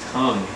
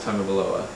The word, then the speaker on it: Tagovailoa: The point is, it's pronounced Tagovailoa. It's not tongue.